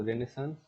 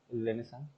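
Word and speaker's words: Renaissance: अब रेनेसां rebirth क्यों जरूरी था? फैक्टर क्यों, वो रेनेसांस, रेनेसा सॉरी, ये साइलेंट है कितने एरिया, ये साइलेंट रहता है।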